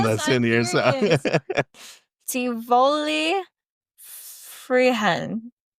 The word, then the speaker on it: Tivoli Friheden: Tivoli Friheden. Do not pronounce the D at all. No. Oh, okay. Yeah. Tivoli Friheden.